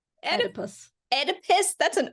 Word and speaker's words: Oedipus: How do you pronounce number 4? Oedipus. Oedipus? That's an O. Oedipus.